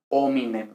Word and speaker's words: homine: no hay dificultad entonces no decimos un minero ni nada de eso decimos homine de ahí viene hombre no